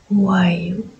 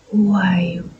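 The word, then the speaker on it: WOUAIOU: Le code d'activation qui appelle votre dragon s'appelle W-O-U-A-I-O-U. À chaque fois que vous voudrez faire appel à votre dragon, vous prononcerez Wayu, Wayu, Wayu.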